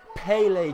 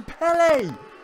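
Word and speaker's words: Pelé: that these Americans need to understand how to pronounce Pelle all of them including M Cole obviously called the Pelle kick P kick I mean the guy's name is Pelle he's one of the best footballers of all time pronounce it correctly you would freak out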